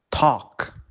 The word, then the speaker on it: talk: And the letter L can be silent in many cases, especially when the L is difficult to pronounce. For example, could, should, talk.